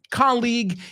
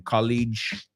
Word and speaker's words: colleague: So, yeah, colleague. Y además muchos dicen, lo pronuncian mal. Dicen college, right? Acuérdate esto, si lo vas a usar, la liga, pues quita la A al final, league. Eso es colleague.